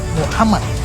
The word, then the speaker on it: Muhammad: Pengucapan yang benar untuk seorang yang terpuji adalah Muhammad dalam bahasa Arab.